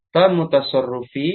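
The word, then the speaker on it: تام متصرف: Yang tam kita baca tam mutasarrufi, harusnya gitu bacanya.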